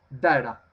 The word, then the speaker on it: data: Póngale mucho cuidado a esa pronunciación de data. La primera A suena A. De. Y la TA, data.